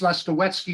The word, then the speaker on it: Lastawecki: TS is, the sound is like the czar, and they would never agree to that. So it's Lastawecki is the real pronunciation, but it doesn't matter.